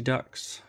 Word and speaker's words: duct: is the LV energy ducts. Duct with a T.